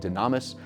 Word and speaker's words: Dunamis: Yeah, it's pronounced dunamis, but I think Dunamis sounds better.